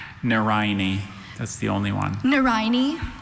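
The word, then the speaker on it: nerine: Any plant of a genus of southern African bulbous herbs with strap-shaped leaves and showy red flowers resembling lilies is a Narayani.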